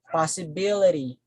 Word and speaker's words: possibility: And then we say possibility, possibility, possibility, possibility. So the stress falls here.